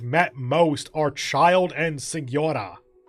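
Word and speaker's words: Signora: most are child and sigura senora i keep wanting to pronounce the g because i think they do in the in the actual game but then we've also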